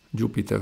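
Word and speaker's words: Jupyter: qua facciamolo partire anaconda Jupiter notebook vedete si legge come il pianeta ma ha una Y in più adesso lui parte attiva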